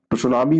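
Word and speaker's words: tsunami: बंदरगाह लहरों के नाम से जाना जाता है सुनामी इसको लिखा जाता है लेकिन यह जो सब होता है यह रोटी साइलेंट करके इसमें पढ़ा जाता है जापानी सब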